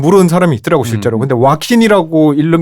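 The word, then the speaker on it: Joaquin: J로 시작하는 근데 스페인어에서는 J는 H 발음이 나기 때문에 호아킨이 맞는 것 같은데 근데 뭐 이름은 지은 사람이 자기 부르는 게 맞으니까 와킨이라고 한다고 답이 돼 있더라고요.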